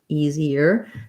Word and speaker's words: easier: a suffix like ear like for example easier easier in this case it does say e um